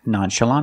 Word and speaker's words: nonchalant: act nonchalant about it in this case the NT at the end of the word is between vowels when you link the words so you don't really hear the T try to be nonchalant about it or act nonchalant about it the tongue goes up to make the T position but you don't really hear it example we were out